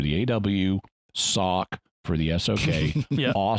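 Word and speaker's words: Awsok: reveal spoiled so fine they call her asoc a-w-s-o-k in the in the credits perfectly straightforward easily pronounceable name aw for the aw sock for the sock the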